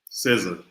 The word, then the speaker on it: SZA: SZA. SZA, thank you. Good Lord. I want to say scissors, like an idiot, but like, you know, my bad.